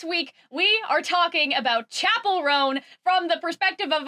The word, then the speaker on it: Chappell: Because I know it's Chappell, but in my head I keep saying Chappell, and so it's going to happen.